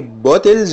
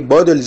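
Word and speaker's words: bottles: بص كده، هاو ميني بوتلز اوف ووتر، هي المفروض تتقال هاو ميني بودلز اوف ووتر، بس انت طبعا هتستغرب النطق ده، هتقول ايه النطق الغريب، لكن ده هو النطق الصح، ان التي بتتنطق دي،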